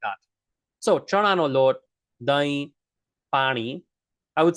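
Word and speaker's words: દહીં: It's spelled d h d h but it's pronounced dahi dahi.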